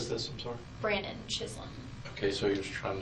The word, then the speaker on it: Chisholm: Brandon Chisholm, I think that's his name. Chisholm, Chislm, or something like that. It might be pronounced Chisholm with a silent L, but I know that has an L in it.